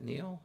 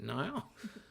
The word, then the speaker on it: Nile: uh Nile Murray uh some people pronounce that Neil but I have a friend named Nile so I pronounce it Nile Merritt and Joan Patterson